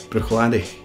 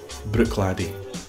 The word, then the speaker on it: Bruichladdich: would say boom or Bruichladdich now here we have the CH sound twice so we've got the hard pronunciation and then end we've got much softer pronunciation Bruichladdich almost to the point